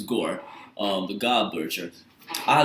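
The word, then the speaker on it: Gorr: I can't pronounce his name. It's Gore. Gore. I'm make sure I pronounce his name right. I want to pronounce it Gore. Gore. His name is Gore.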